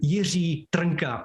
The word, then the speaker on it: Jiří Trnka: One of my heroes was this man, Jiří Trnka. That's again, Jiří Trnka. Very difficult to pronounce.